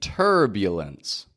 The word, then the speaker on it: turbulence: little turbulence that's right turbulence again notice I'm not saying turbulence turbu turbulence but I've got a y Glide in there once again turb turbulence there's no why in the spelling just like Isle just